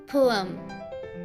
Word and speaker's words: पोएम: So correct pronunciation is पोएम. पोएम.